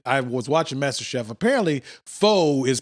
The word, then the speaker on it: pho: Apparently, pho is pronounced pho.